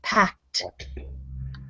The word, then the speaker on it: packed: it's positive yes now that word pact it sounds like a t on the end and not an e d it's one syllable word packed packed good yes excellent